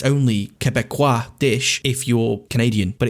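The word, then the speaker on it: Québécois: Break it down. Que is Q-U-E. Que. Be. Be. B-E. Quoi. Quebecois. Quebecois.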